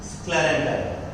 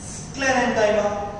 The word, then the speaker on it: sclerenchyma: collenchyma, sclerenchyma. parenchyma, collenchyma, sclerenchyma.